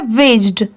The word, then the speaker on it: wedged: ये है shop, SHOP shop, ये है वेज्ड, वेज्ड, WEDGED, यहाँ पर इसे हम क्या प्रोनाउंस करेंगे? वेज्ड। यहाँ पर D साइलेंट है इसलिए WEG वेज, और ED की साउंड एड। ठीक है, ये है बिटवीन,